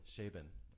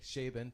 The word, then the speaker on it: Chabon: Chabon. Okay, there we go. I've heard him speak. I've read his books. Okay, Chabon, thank you.